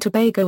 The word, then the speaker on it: Tobago: and the Raina although the English pronunciation is rhyming with plumbago and SEO geography Trinidad and Tobago a southeasterly islands of